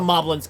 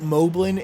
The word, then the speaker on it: Moblin: Anyway, of course the Moblin's coming to me. Some people pronounce it Moblin. It's actually pronounced Moblin because they're based off of goblins.